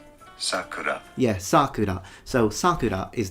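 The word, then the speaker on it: 桜: But it actually depends, because the pitch accent will differ whether you're using the word to mean cherry blossom or name of a child. If it's a name of a child, it's sakura, so high to low. But if it's the cherry blossoms, is sakura, the opposite, sakura.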